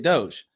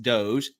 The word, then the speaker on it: DOGE: He started out his address by complimenting Musk and his work at Doge. I finally said it right. I didn't say dog. I didn't say Dodge like I normally do. I finally said Doge.